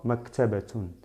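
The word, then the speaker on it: مكتبةٌ: Con la pronunciación de doble damma, maktabatun, maktabatun, que significa biblioteca, ¿ok?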